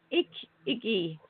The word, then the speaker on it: Ikigai: It's Ikigai, Ikigai, the sense of purpose. How do you pronounce that?